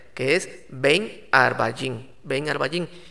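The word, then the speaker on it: עַרְבַּיִם: está una palabra hebrea que dice que se pronuncia como arbain está una palabra hebrea que es ven arvallin venga arbayín y para que digas de esta tarde a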